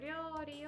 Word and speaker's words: 料理: 料理 is hard to pronounce for many, many people. The Japanese R sound is somewhere between D and R and L. So, 料理 So, 料理をする.